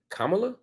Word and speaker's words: Kamala: You can say Vladimir, you can say Vladimir Putin or Volodymyr Zelensky, but y'all can't say Kamala? You can't put an accent on the first syllable?